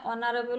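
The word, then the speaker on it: honourable: ইশ অনারেবল জ কিব এন এটু উচ্চারণ হই অনারেবল উচ্চারণ হছে হ কারণে কি হব এন আজ ভিডিওট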